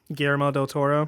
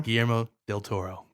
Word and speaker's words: Guillermo del Toro: Guillermo del Toro. Guillermo del Toro.